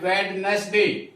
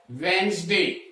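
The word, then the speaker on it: Wednesday: इसी तरह से फ्रीज, और जिसको हमें मोस्टली गलत पढ़ते हैं इसको हम पढ़ते हैं वेडनेसडे, जबकि ये वेडनेसडे ना होकर के डी की जो डी साइलेंट रहता है और इसे पढ़ा जाता है वेंसडे। ध्यान दीजिए वेंसडे।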